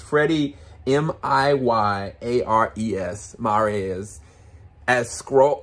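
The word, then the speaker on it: Miyares: i get his last name right i'm gonna spell it it's freddy m-i-y-a-r-e-s maria's as scroll like he he kills it he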